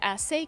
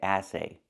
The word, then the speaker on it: essay: The word is pronounced essay, essay. Not assay, but essay. Let's talk about the difference. If I say assay, I'm using the short a sound like black cat. We don't want that sound. We want the sound like in red and 10, It's more closed.